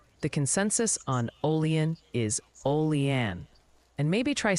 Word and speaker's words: Olean: Oh, and the pronunciation committee has submitted an update. The consensus on Olean is Olean.